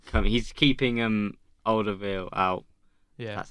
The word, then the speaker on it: Alderweireld: Yeah, but just about to say like he's like he's keeping Alderweireld out.